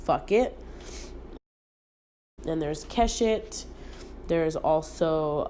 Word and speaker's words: FUQIT: Then there's Breaking the Binary, and then there's Eucalyptus, and then there is FUQIT, which is pronounced fuck it.